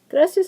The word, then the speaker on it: gracias: pretty cool anyway gracias gracias is actually a two- syllable word graas because of the blend here similar to this one two vowels together so the I a is but it's y so it's one sound graas so once again because